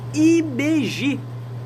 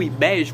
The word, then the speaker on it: Ibeji: Vamos lá, o vídeo de hoje é sobre IBG, né? Ou IBEG, como muita gente fala, né? Eu prefiro falar IBG, porque eu acho que a pronúncia fica mais bonita, né?